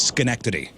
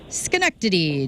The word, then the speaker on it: Schenectady: It's Schenectady. Schenectady, New York.